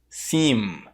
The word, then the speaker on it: seem: Mas no inglês, o som do M no final da palavra, ele não é pronunciado dessa forma. Ele é pronunciado com a boca fechada. Por exemplo, nas palavras cam, stem, seem. Você percebeu que no final, para pronunciar o M, eu fechei a boca?